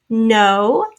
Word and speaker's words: know: Okay, and then we're going to review the N sound at the beginning of a word is sometimes spelled with a silent K and then an N. For example, knees, no, the kind of know, like I know how hard you work.